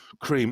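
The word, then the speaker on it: Kreme: Um, oh, it's spelled wrong, but it's still pronounced cream.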